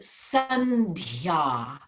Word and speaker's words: sandhya: And the word sandhya, I could type that out and give it to you. I'm spelling it S-A-N-D-H-Y with a long A at the end. Sandhya.